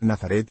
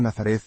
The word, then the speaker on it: Nazaret: En español, por un proceso fácil de imaginar, las antiguas th como la de Mateo o Matías han terminado por escribirse solo con t, y las pronunciamos t, y no z, decimos Belén, y no Betlehem, Nazaret, y no Nazareth, Betsaida, y no Betsaida,